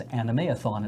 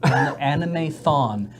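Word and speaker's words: Animethon: I had people who referred to it as anime Athan it's like no it's anime thawne it's all spelled out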